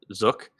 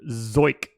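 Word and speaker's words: Zeuch: Yeah, I mean, extreme ground ball pitcher for Zook. But the strikeouts in here, there. it's actually pronounced Zoik. Sort of like, I don't know. Yeah, I was on Scooby-Doo. Baseball Reference, and it's Zoyk. Zoik.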